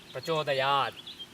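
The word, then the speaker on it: प्रचोदयात्: the correct pronunciation, and now almost every person who is chanting these mantras says prachodayat, avaparastat, avapaschattat, etc. But that is definitely not correct. If you are teaching somebody to be explicit, you can pronounce this clearly. But when you are doing sadhana, when you are using it as a mantra, the correct pronunciation is avaparastat, prachodayat, like that.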